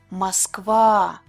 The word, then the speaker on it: Москва: Москва. ВА is a stressed syllable. Stress mark is on top of the vowel А. Университет.